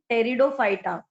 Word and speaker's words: Pteridophyta: Pteridophyta. P is silent.